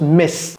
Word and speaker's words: Ms: demoiselle c'estàd pas marié c'est juste MS et ça se prononce Miss dès qu'il a r